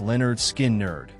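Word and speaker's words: Lynyrd Skynyrd: Leonard Skinnard, their debut album, pronounced Leonard Skin Nerd, 1973, featuring Freeird and Simple Man, established Leonard Skinnard as southern rock icons with their fiery triple guitar attack.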